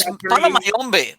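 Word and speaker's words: Palo Mayombe: There's Palomayombe.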